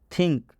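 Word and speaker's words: think: थिंक। थिंक में टी का उच्चारण थ हुआ है।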